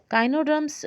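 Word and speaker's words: echinoderms: काइनोडर्म्स में ई जो है वो साइलेंट है।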